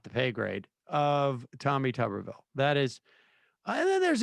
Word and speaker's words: Tuberville: I mean, I think like Tommy Tuberville, is that how we pronounce his name? Yes.